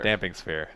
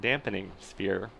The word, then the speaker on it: Damping Sphere: instance so damping sphere damping sphere that's the one and not what to note not dampening sphere which seems to be the common pronunciation of that damping is to reduce vibrations does not have to do with water or moisture although it would be